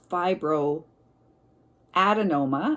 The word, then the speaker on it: fibroadenoma: that it was a fibro adenoma I think I was mispronouncing it my last video fibroadenoma um and it's my